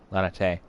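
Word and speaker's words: Laniaitte: and tell lady la leonette what has happened lanatay lana tay that's how you pronounce that all right now i want it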